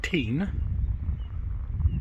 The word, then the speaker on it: Teign: yes that is the estuary of the river teen just say it again team the river teen flower flows flows through or past drew stanton